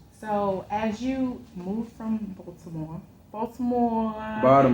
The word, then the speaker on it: Baltimore: she know you got you got to say it's Baltimore like a Baldhead Baltimore you gave up I